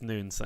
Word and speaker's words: Nunes: on really excited to be discussing the biggest noons Insidious business today uh yeah thank you so much for the invitation my pleasure man you've already told me something it's noon so I've got to stop pronouncing it right correctly I'm so bad at